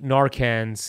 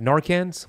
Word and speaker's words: Narcan: Okay, so that video of you taking the Narcans, is that how you say it properly? I always feel like I butcher that. Narcans? Narcan. Narcan. Singular. Yeah, Narcan. I've been saying plural.